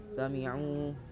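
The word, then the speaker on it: سمعوا: fha fiha samiu kemudian di bagian yang samiu juga terdapat eh mad asli yang di mana domah bertemu dengan ww e cara kita membacanya dipanjangkan dua harakat samiu seperti itu lanjut di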